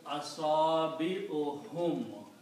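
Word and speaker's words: أصابعهم: And when we combine these two, we pronounce only one dhamma, and it becomes asabi'uhum, their fingers.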